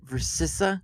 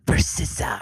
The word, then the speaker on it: Versyssa: But anyway, I get to have on the lovely Versissa. Is that how you say it? Yeah. You You were complaining they can't say your name. Imagine everybody butchering mine. Versissa.